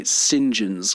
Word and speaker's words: St. John: John's College or they say Singen's College Do you know that British thing where someone will be named and it's like St. John is their name, but it's pronounced singen.